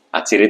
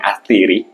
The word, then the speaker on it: atsiri: Kemudian diserap oleh bahasa Indonesia karena pelafalan orang Indonesia lebih mudah menyebutkan atsiri ya dibanding atiri. Jadi namanya atsiri.